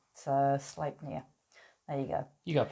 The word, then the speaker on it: Sleipnir: Sleipnir. Thanks, Nicole. Oh, thanks, Nicole. Yeah, it didn't give me a pronunciation. So Sleipnir. There you go. You got pretty close. Sleep, I said.